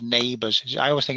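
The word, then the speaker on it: NABERS: Now, the Australians have a really good system called Neighbours.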